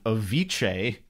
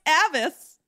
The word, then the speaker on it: Avis: got by my reading a viche trickster God no no it's Avis like avarus but without the middle two letters Avis I like a